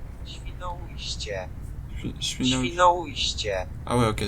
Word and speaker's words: Świnoujście: En polonais, ça se dit. Świnoujście.